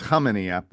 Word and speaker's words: Khamenia: I was here ready to talk about the silent K, and then I went ahead and did it wrong myself. It's hard when you see his name written down on a bit. Like, I've got notes. Yeah. In my notes, it looks like but it's Haminia.